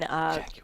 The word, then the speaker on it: Jaguar: Jaguar.